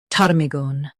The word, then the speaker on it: ptarmigan: Stress tar and keep migan soft. Tar, me, gun. PTARMIGAN.